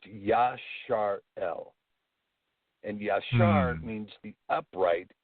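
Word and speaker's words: ישראל: in the modern world but in the ancient world it wasn't pronounced Israel it was pronounced Yash are el and yarn means the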